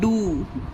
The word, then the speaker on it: do: अब आगे देखिए DO, ये होता है डू, ओ को यहाँ पर ऊ का साउंड दिया गया, इसका प्रोनाउंसिएशन हुआ डू, डू मीन्स होता है करना, मीनिंग इसका हिंदी में है करना, इसे क्या पढ़ेंगे?